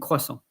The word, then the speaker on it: croissant: The thing to know about French, you don't pronounce the last letter unless there is an e at the end.